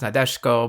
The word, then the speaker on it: Nadeshiko: before anyone points it out narashiko's kanji is pronounced nadeshko but it's another name i'm used to saying